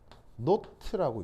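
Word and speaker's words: naught: 있는 그 동그라미 표시 이게 읽을 때 어떻게 읽냐면 노트라고 있습니다 원래 발음은 노트가 맞는데 사실 아무도 노트라고 하지도 않아요 이것의 의미가 바로 뭐다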